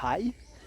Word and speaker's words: Ngai: On est tout proche de l'embarcadère pour les îles Kumuk ou Hai, Koh Hai, ça s'écrit Ngai.